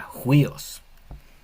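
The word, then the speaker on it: υἱός: dos focales está unidas, esta respiración fuerte se le se escribe en la segunda letra, pero se lee al principio. Entonces, la palabra sería juíos, significa hijo.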